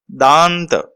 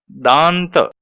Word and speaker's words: दांत: जोड़े में भी है दांत दांत इसमें भी आप देख रहे हैं दांत के ऊपर विशेष जोर दे कर बोला जा रहा है यही नियम सभी